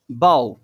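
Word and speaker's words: bough: টাফ, তারপরে যেটা আছে অ্যান্ড বাও, ঠিক আছে?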